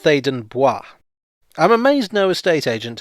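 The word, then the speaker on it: Theydon Bois: sensibility showing through but i always think that it should be pronounced thaden boi i'm amazed no estate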